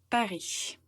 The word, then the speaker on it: Paris: Donc, il faut prononcer Paris.